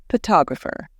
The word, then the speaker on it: photographer: For example, in the word photo, we stress the first part, but in photographer, we stress the second part.